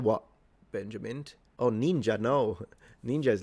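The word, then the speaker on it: 忍者: because your pronunciation yeah that's how it's pronounced ninja and it's a falling pitch ninja ninja instead samurai samurai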